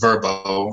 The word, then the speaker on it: VRBO: used to be called VRBO but now it's pronounced verba oh so homeboy and verbo are the pretty the same company now and